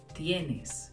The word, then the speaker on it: tienes: It's tienes with a T. So it sounds like T-Y-E-N-E-S.